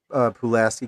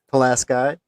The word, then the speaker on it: Pulaski: Pulaski? Well, it's everybody says Pulaski, but you add a little bit of a twang to it, and it's a Yeah. little ambiguous. Oh, right there, we're going Pulaski.